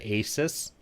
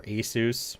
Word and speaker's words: Asus: To be honest, until recently, I would have said Asus or Asus, however you want to pronounce it.